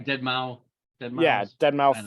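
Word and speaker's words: deadmau5: I think it's Dead Mouse, but it's okay. Well, they call him Dead Mouse.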